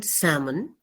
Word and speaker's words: salmon: not a rule but if there is an L before M the L will be silent for example um p